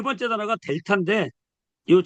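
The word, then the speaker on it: δ: 요거를 우리가 델타 그래요. 델타. 델타. 델타 그러는데 요 디귿자가 보이죠? 그러니까 이거는 디귿자구나. 발음이. 이렇게 요거하고 요거하고 이거하고 이거 이렇게 매칭돼서 우리가 이번 주에 외워주시면 돼요.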